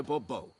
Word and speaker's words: Bourbeau: I expect you to address me as Sir, or better yet, as Monsieur de Bourbeau. Fine. Monsieur de Bourbeau. The emphasis falls on the last syllable.